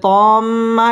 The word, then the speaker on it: الطامة: তম্মা এটা হচ্ছে ওয়াজিব গুন্নাহ, হরকতের বামে নুন অথবা মিমের মধ্যে যদি তাসদিদ হয় এখানে গুন্নাহ করে পড়তে হবে।